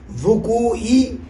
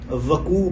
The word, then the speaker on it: وقوع: الوقوعی پڑھ رہے ہیں، حالانکہ وقوعی کی واو پر پیش ہے، اور 5 مرتبہ آپ پھر سماعت فرمائیں، 5 مرتبہ وقوع پڑھ رہے ہیں، حالانکہ صحیح تلفظ وقوع ہے۔ حالانکہ صرف کا ابتدائی